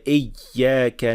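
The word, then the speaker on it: إِيَّاكَ: And the sign that you are getting it right is that the sound or the airflow when you are pronouncing the ya with shadda will not stop.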